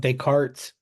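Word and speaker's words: Descartes: okay let's talk about decart that's how that's pronounced decart his rule of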